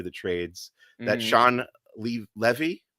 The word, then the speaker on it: Levy: leaked out through the trades that Sean Le Levy how do you pronounce that one Levi Levy no Lev yep Sean Levy yep you know